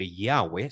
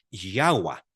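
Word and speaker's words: Yahweh: bastante lógico de hecho ciertos eruditos dicen que no se debe decir yahwe sino se debe decir yahua porque yaha quiere decir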